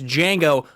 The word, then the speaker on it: Django: to talk about it's Django Unchained the D is silent I'll see you guys